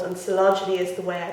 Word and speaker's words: Coelogyne: So Coelogyne is what this orchid is called, and Coelogyne is the way I pronounce it.